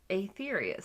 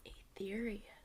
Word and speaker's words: Aetherius: Like these guys who are called the Aetherius Society, I think is how it's pronounced. Aetherius. Yes, A-E is why I'm saying Aetherius.